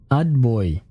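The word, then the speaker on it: отбой: Atboy Tavarishe. Ah, so Tavarishe is comrades, and Atboy is Adboy. The T is not actually a T, it sounds more like a D.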